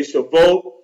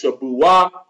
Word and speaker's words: Shavuot: Some people say Shavuot. I pronounce it in the Hebrew as Shabuah.